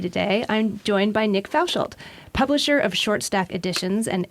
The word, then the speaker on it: Fauchald: okay it's good to be the serious prounce pronounce your last name for me Fouch Fouch yeah okay in the studios of opv today I'm joined by Nick fouchal publisher of shortstack editions and editorial director of